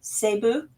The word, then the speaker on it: Cebu: I have some good friends who live here in Tokyo from, correct me if I say it wrong, Cebu.